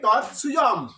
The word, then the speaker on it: তৎস্বয়ং: তাহলে তৎসুয়ম একসঙ্গে উচ্চারণ করবে, তৎসুয়ম, তৎসুয়ম। ঠিক আছে, তৎসুয়ম।